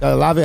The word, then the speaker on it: Olave: That's how you pronounce his name. Olave.